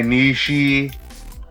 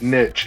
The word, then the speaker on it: niche: And so that kind of gets my niche, I guess, which, by the way, that's pronounced niche if you didn't know. But niche still sounds cooler.